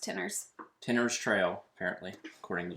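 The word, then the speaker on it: Tinners: got an apartment I know but it's just pronounced Tenors Tenors Trail apparently according to Jamie yeah will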